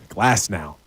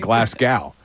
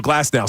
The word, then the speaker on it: Glasnow: Aaron Nola on the mound against right-hander, I don't want to say his name wrong again. Glasnow. I'm going to be in Scotland saying Glasgow. So Glasnow.